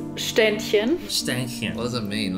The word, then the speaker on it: Ständchen: love the piece very nice next shurn the St chin it's you Eddie St chin so okay pronounced shinin what does it mean like a standing Ed